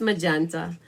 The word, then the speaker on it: magenta: the edge like that magenta am i saying it wrong oh man magenta madness marvelous magenta it's magenta so you can see